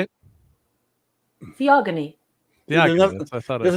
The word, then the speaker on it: Theogony: Theogony.